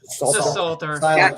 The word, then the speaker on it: Psalter: Psalter. Salter.